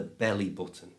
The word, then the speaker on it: belly button: commonly known as the belly button. To say this correctly, just change the O in button to the schwa sound so it's but-un.